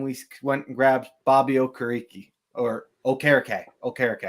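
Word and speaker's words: Okereke: went and grabbed Bobby O kariki or Ok Okay okay I pronounce it Like Pat McAfee um but uh yeah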